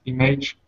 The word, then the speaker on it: image: Images, 3 syllables. Images. Images. And imaginative. Imaginative. Imaginative. Right, so image has a different sound with the letter A than imaginative.